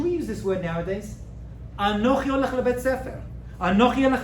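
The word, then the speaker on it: אנכי: Dibrot, these 10 statements, and it is Aleph, Nun, Chaf, Yud. Anochi. Anochi.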